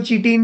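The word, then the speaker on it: chitin: सब सुना होगा काइटटीन कुछ लोग इसको चीटीन भी बोलते हैं जैसे आपको प्रोनाउंस करना है कर लो नाउ व्हाट इज़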